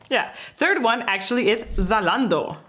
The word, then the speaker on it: Zalando: Third one actually is Zalando, or pronounced in German. Zalando. Oh, it's not Zalando.